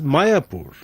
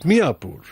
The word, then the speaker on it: Mayapur: village was identified as Mayapur. In the olden days, the Muslims used to call it Miapur. Although there is a difference in pronunciation, the similarity is obvious.